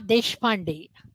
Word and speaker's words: Deshpande: I am Deshpande. You say it so much better than Deshpande. I do. Much better. Yeah, So I'm so used to it. Yeah. a little bit about Deshpande that you should know.